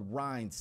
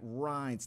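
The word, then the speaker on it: Rinne: test it's called the Rhines test hopefully I'm pronouncing that right Reince that's RI in in E apostrophe s it's a test that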